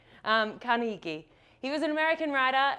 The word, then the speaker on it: Carnegie: a chap called and I say his name wrong every single time dealt Konishi so who can correct me brilliant thank you Carnegie he was an American